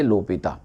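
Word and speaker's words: L'Hôpital: rule लगाते हैं okay लोपिता में कभी-कभी लोग एस लिखते हैं कुछ लोग एस नहीं लिखते हैं मगर प्रोनाउंस इसको करना चाहिए लोपिता ओके अब हमने इसको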